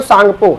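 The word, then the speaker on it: Tsangpo: सांगपो English में लिखते हैं तो टी से स्टार्ट होता है ना। हिंदी में कहोगे सांगपो, है ना, टी साइलेंट होता है।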